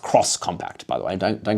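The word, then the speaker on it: X-Compact: They also revealed the Vision X compact, but it's supposed to be pronounced cross compact, by the way.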